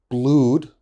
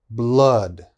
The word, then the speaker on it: blood: a little bit strange my students often say blued that is wrong okay this is blood blood flood blood flood